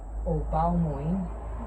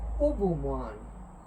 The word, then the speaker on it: Oubao-moín: Pues no se lee Obao Moin, se lee Ubu Moan. Moin, que tanto dicen, no, eso es sangre, eso es sangre. No es Moin, mi gente. En francés eso no se lee Moin.